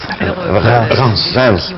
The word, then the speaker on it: Reims: localidad, la localidad de, no sé cómo se pronuncia, Reims, ¿cómo se dice? Sí. Reims, gracias.